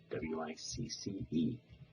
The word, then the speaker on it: Wicce: The feminine form was W-I-C-C-E, properly pronounced Wicce. When you consider that the Saxon CC was pronounced TCH, it becomes easier to